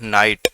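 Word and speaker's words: night: नाइट, इसमें भी जी silent है।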